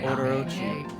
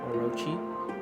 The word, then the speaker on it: Orochi: To satiate the appetite of Orochi, a fearsome cave-dwelling beast. I'm probably pronouncing his name wrong. Orochi?